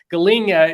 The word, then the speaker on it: galinha: Galinha is how they say it in Portuguese.